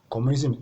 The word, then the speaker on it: communism: one is post communism communism ending in SM so from this formula you see that the stress will still be on the first syllable all you have to